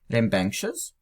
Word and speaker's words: rambunctious: And then they say, читается как рем, банк, шиз, с ударением на банк.